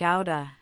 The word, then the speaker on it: out of: It's often pronounced quickly, like outa, as in out of 5.